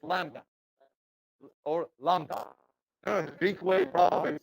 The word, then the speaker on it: lambda: the B, so it's lambda or lambda. Greek way probably saying it is lambda. No B, no B, no B, no B. Like saying limb or lamb, so on.